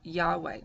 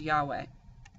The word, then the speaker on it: Yahweh: Yahweh, to the Israelites, they're actually not able to pronounce that name. We later interpreted it and put an A and an E in the word Yahweh to be able to pronounce the word.